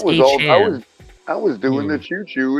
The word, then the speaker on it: Achane: I don't know, but now how are we supposed to do the choo-choo if his name ain't pronounced Achane? It's Achane.